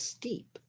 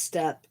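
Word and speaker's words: steppe: I thought it was steep. Maybe just step. step. Okay, I mispronounced it. It's step.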